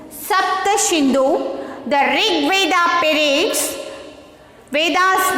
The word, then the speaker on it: Sapta Sindhu: Okay, and see here next one, SAPTASINDU, Sapta Sindhu. Sapta Sindhu, the Rig Veda periods.